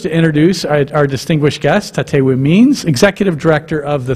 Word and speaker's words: Tatewin: It's not TATEWIN, it's TATEWI. But it's great to have you here today, and welcome to TATEWI and Debbie, who is with her and accompanying her.